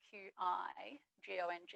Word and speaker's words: qigong: spellings by the way and i tend to spell it q-i g-o-n-g and it's pronounced qigong just to confuse everyone